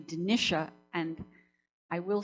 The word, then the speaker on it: Dinitia: um first of all i am actually denisha and i will say